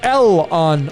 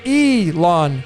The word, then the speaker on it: Elon: because it's elon musk it's not l on musk you pronounce it elon musk so it's the e